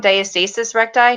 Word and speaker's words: diastasis recti: So if anybody, I see one person's watching, comment if you have, I'm saying it wrong, diastasis recti.